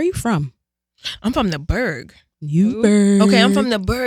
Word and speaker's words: Burgh: I'm from the Berg. Newburgh. Okay, I'm from the Berg, but that has like a special meaning. First of all, the Berg is spelled B-U-R-G-H, short for Newburgh, in